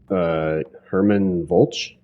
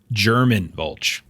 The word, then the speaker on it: German Volch: Everett will walk over to, I think it was Herman Volch? German Volch. German Volch. Okay, yeah. So it is pronounced as like the language.